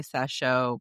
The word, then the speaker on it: Sacheu: I'm going to say Sachou, but it's SACHEU.